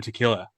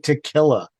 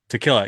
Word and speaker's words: tequila: the edge so tequil tequilla yeah they're releasing their own tequilla Accent on the key key tequila tequila close so they're releasing their